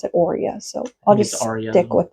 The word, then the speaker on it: aurea: I heard somebody pronounce it Aria once, but most people pronounce it aurea.